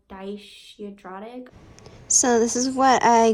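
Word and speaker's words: dyshidrotic: um the other day was like it's called daisy dratic so this is what i googled it's pronounced dye should draw it it's basically like blisters on your skin they're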